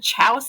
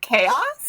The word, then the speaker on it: chaos: like 28, and then I said Chouse again, and I was like, wait, isn't that chaos? Yeah. And I had to like correct my 5-year-old self, being like, no, Najah, that's not how you pronounce chaos.